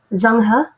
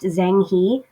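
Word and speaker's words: Zheng He: on a guy named zanghu and i know his name looks like it's pronounced zhang he but probably the closest to chinese i'm gonna get to pronouncing it right is zangha anyway so zangha was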